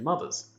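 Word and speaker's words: MU-TH-UR: really the ship's computer ma it's pronounced mother i don't know why it's written that way according to ridley scott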